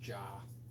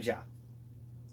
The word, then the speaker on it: Jaa: I think it's pronounced jaw. Yeah, Tony Jaa.